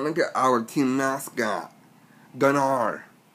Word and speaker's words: Gunnar: And look at our team mascot, Gunnar. It's not Gunner. There's two different ways to spell our team mascot's name. Everyone calls him Gunner. Gunner is spelled G-U-N-N-E-R. His real name is G-U-N-N-A-R. Gunnar.